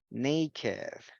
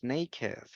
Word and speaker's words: naked: Yes, en este caso lo vamos a pronunciar con esto, con it, aged, blessed, crooked, naked, wicked, and wretched. Con esto, con ed.